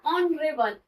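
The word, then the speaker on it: honourable: फिर देख रहे हैं ऑनरेबल मैन, अब ये क्या है, ऑनरेबल, इसको कैसे पढ़ेंगे, ऑनरेबल, ठीक है, तो ऑनरेबल है, इसका साउंड कैसा है, ऑनरेबल, तो आ रहा है ना, वॉवेल साउंड है, तो इसलिए यहाँ पे क्या आ जाएगा, एन आ जाएगा।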